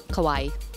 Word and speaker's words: Kauai: Kauai is the biggest island in Hawaii it's pronounced as Hawaii with a que kawaii Cohen was started by three Californian voice could